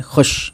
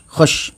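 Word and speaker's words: خوش: वैसे तो खुश होना चाहिए लेकिन वाव को हम इतना नहीं पढ़ेंगे, है ना, साइलेंट कर देंगे, खुश, खुश, ठीक है।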